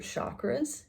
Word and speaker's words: chakra: is working with your chakras if you don't know what they're i should be saying it like chakra that's actually how you pronounce it but your chakras are